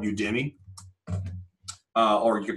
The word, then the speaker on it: Udemy: It's supposed to be U Academy. Is like the it's the we'll play on words. So Udemy, and what there's like 300,000 courses on this website.